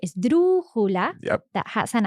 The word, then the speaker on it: esdrújula: So there's a word for a word that's stressed on the third last syllable. Yes, which is esdrújula. It's a crazy word. Esdrújula. And really interestingly, this word is an esdrújula itself.